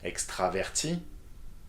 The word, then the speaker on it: extraverti: Extraverti, extraverti, extraverti, extraverti. You see, the 4 forms are pronounced the same.